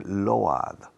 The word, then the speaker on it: load: La OA, el sonido fonético es OU. Por ejemplo, abrigo. Abrigo se escribe coat. Se pronuncia coat. Como si fuera OU, no OA. Coat.